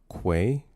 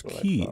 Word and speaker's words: quay: It's pronounced quay. No, it's not. Uh, say it with me now with a Q. Quay. Quay. Not key. I don't know who says key.